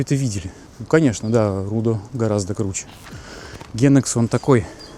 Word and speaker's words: Рудо: И в ролике про Генекс товарищи, которые Brutal Белград, они говорили, что любимое их здание это все-таки не Генекс, а Рудо. Рудо. По-сербски. Сербским ударением.